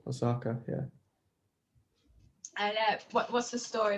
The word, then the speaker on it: Osaka: So your newest single, Osaka, is that how you say it? Yeah, like the Japanese city, Osaka.